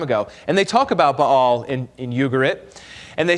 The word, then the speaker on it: Baal: They started worshiping Baal and Asherah instead of Yahweh. Baal was a weather god. A lot of times we call him Baal, but the proper way to say is Baal.